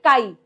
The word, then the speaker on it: chi: we pronounce it as chi. Okay? Chi chi chi, right? So, it is pronounced as chi, although it looks like an X, right?